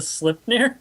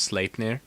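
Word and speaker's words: Sleipnir: birth gave birth to slip who has eight legs and is Odin yeah exactly sir sir sir it's pronounced slap yeah SL SL SL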